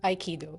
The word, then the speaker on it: Aikido: Aikido. Aikido.